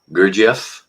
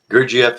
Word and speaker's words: Gurdjieff: Uh the one book I couldn't pronounce. Um GIF, pardon me. Gerif. Yes, that's it. Gerf, an introduction to his life and ideas.